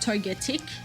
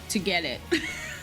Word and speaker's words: Togetic: Like, it's not togetic. It's like to get it.